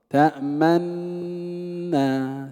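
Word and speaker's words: تأمنّا: تأمنا تأمنا كما أديناه في مجلس سابق.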